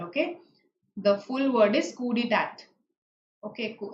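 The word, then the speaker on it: coup d'état: The full word is coup d'etat. Okay, cool. And I think the T is silent.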